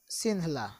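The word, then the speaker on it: Sinhala: तो सही जवाब है ऑप्शन बी, सिंहला। सिन्हाला मत पढ़ दीजिएगा, सिन्हाला हिंदी में इंग्लिश में लिखते हैं, सिन्हला इसको बोलते हैं, प्रोनाउंसिएट करते हैं।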